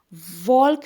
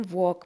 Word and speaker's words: walk: वॉल्क नहीं हम पढ़ते, हम वॉक पढ़ते हैं, सबको ये पता है ना, WALK के बजाय हम वॉक, WAK जैसा पढ़ते हैं, वॉक, ठीक है।